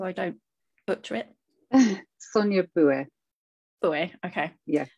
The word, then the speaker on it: Boué: Sonia Boué. Boué, okay. Yeah, Boué. I think I pronounce too much of the E then when I do it, probably. Boué. Boué. That's okay. Boué is fine too.